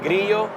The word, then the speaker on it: Grillo: my name and then Grio is um Spanish if you spell it in English it's gillo but it's g r i l l o um and um that's